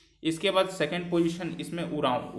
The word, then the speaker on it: उरांव: ठीक, इसके बाद सेकंड पोजीशन इसमें उरांव। उरांव का स्पेलिंग गलत है, OR होता है, ORAON, उरांव होता है।